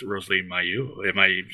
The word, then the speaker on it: Mayeux: It's Rosalee Mayeux. Am I pronouncing that right? No. You are. Miracle. Mayeux? Miracle. Mayeux. Mayeux, yes.